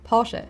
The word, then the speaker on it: Porsche: I know the followed by an e is very difficult to pronounce. It's a very short e sound. So Porsche based in the Porsche